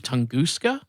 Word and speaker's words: Tunguska: So it is interesting when you go back and see something like the I believe Tunguska. Is that how you say it? I think I determined that it was pronounced that way.